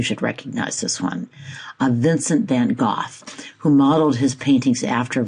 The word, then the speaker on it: Van Gogh: And by the way, it is Van Gogh. I always said Van Gogh too, but I've now listened